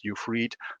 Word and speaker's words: Ufried: The IE in German is usually pronounced as you would write it in English with a double E, something like that. So that's Ufried.